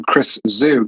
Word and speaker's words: Chris Zhu: And I am super excited to introduce all of you to Chris Zhu. Chris, am I correct in your surname's pronunciation?